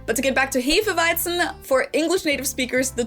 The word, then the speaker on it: Hefeweizen: Most people here in the US say Hefeweizen or Hefeweizen maybe. Well, in German, we pronounce this word Hefeweizen.